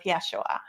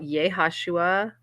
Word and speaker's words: Yeshua: relationship now with Yeshua, which is Jesus, but that's how you say it correctly. In fact, is it, there's also another way you can say it, Yeshua. Is that right, Karen? How do you say it? Yeah, Yeshua. A ha in front of it. How do you say it? Oh, what I thought, Yehashua. Yehashua. Ask Mercurio. He will know. So there's two variants of it too.